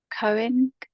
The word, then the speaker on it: Koenig: Again, it's going to be pronunciation for me. It's Walter Koenig.